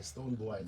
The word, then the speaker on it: Stonebwoy: From the beginning, if you say boy, I'm like, yeah, it still means boy. It's boy, Stonebwoy, so that you get a pronunciation right.